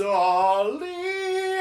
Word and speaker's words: Ali: Just think of Prince Ollie, Ollie, see, Ollie, Babwa. That's how I remember how to say her name.